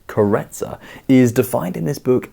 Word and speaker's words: Karezza: by the way is spelled caressa but is pronounced carretzer is defined in this book as relaxed gentle